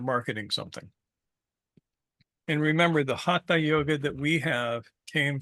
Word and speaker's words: Hatha: Which is not to say that doing Hatha yoga, it's pronounced Hatha, by the way, not Hatha.